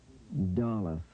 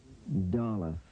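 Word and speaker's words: ד: shape of it pronunciation doll doll say your pronunciation internalize it let's go to the examples D sound as in door and dental say it door and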